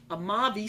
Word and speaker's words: Amavi: Amava. I've never had this. Amavi. AMAVI. 2007. It was Cabernet. I felt the Cabernet. Walla Walla Cab. Amavi Cellars. 91 points. Wine enthusiast. $22. Wow. It is pronounced our name Amavi.